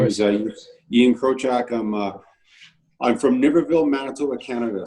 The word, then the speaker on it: Krochak: I'm your host, Marshall Farnsworth, here with Alex Breitenbach and Ian, how do you say your last name again? It's Krochak.